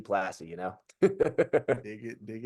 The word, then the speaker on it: Plasse: was like I was plaz am I going French with it like what's I love that it is technically French Canadian but we say plassy classy plassy you know dig it